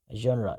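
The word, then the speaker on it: genre: जनरा, इसको आप understand करें, जो इसका इसका प्रोनाउंसिएशन है ना, वो है जनरा।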